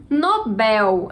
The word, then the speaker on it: Nobel: é uma paroxítona 29 mais uma palavra cuja pronúncia causa dúvida Nobel Às vezes a gente tá repetindo de outra maneira porque eu vi o sendo disse em outro idioma mas em português Nobel a sílaba tônica Oi Bel é